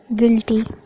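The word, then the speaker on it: guilty: जब जी के बाद यू आता है तो यू साइलेंट होता है। Example guard, गिल्टी।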